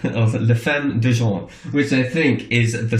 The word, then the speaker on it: La Femme d'Argent: French band, quite instrumental, and I hope I pronounce this correctly. It's La Femme d'Argent, or La Femme d'Argent, which I think is the Silver Woman.